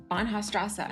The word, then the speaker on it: Bahnhofstrasse: Bahnhofstrasse? Bahnhofstrasse.